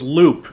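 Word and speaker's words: Leupp: of the town was loop it's pronounced loop but it's spelled le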